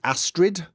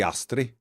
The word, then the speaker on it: Astrid: would pronounce it that way but they don't pronounce the names uh the leader of the Dark Brotherhood is Astrid uh it should be asri so but they've used a lot and I